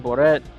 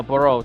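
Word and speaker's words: Barriault: But it seemed like he was very desperate to get a takedown, and Marc Andre wait, how you say his last name again? Barreau. Barreau or Boret. But no, Barreau.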